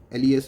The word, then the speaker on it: les: Les is pronounced as le.